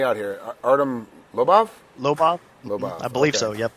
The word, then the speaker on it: Lobov: Lobov. I believe okay. so, yep. That's how you pronounce it.